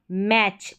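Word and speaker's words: match: अब यहां पर है टी सी एच। इसको हम च पढ़ेंगे। अब जब भी किसी स्पेलिंग में, किसी वर्ड में आपको टी सी एच मिलेगा, इसको आप च पढ़ेंगे। जैसे कि यहां पर इन स्पेलिंग्स में देखें यहां पर लास्ट में टी सी एच है। यह टी सी एच इसको च पढ़ेंगे। टी सी एच टी सी एच च। तो ये हो गया मैच।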